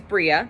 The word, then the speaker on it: Bria: So my name in Hebrew, so my name is Bria, Bria, and my name in Hebrew is Bria,